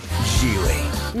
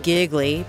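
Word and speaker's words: Gigli: Gile. No, it was not pronounced giggly, but critics did say it was funny.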